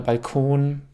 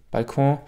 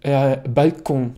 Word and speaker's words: Balkon: Mein Tipp ist, übertreibe es also nicht mit der korrekten französischen Aussprache, sondern spreche sie ein bisschen gemischt deutsch-französisch aus. Also Engagement oder Balkon. Balkon, aber nicht Balkon.